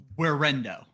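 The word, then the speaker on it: Guerendo: I think it's Guerrando. Where window no, it's the G like a WH horrendous.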